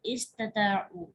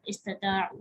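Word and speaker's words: استطاعوا: अब देखिए, इस्ताउ और इस्तताउ दोनों का मतलब एक ही है, प्रोनाउंसिएशन चेंज है। पहले वाला थोड़ा खफीफ है, दूसरा थोड़ा शदीद है।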